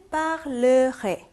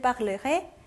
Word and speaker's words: parlerai: 자, parler 동사는 원형일 때는 parler 해서 요 발음이 났어요. 자, 그런데 어미를 붙여버리니까 이 에가 이쪽 음절로 넘어가는 게 아니라 이쪽 음절로 넘어가겠죠. 자, 그래서 어떻게 되냐면 요 발음이 없어져요.